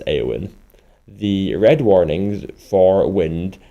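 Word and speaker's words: Éowyn: red warnings for wind aowin pronounce aowin the red warnings for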